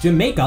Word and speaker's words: Jamaica: As a result, the Y sound was eventually replaced with the J sound, which is how the neighborhood ended up being pronounced Jamaica, like the island.